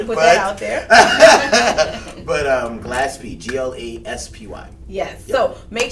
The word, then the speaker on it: Glaspy: And Glaspy, it's not as common, so Glaspy. Yes, not Gaspy, not Gillespie, not Robert Gasper.